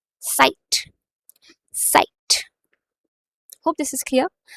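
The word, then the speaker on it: Zeit: सो time को German में बोला जाता है साइट।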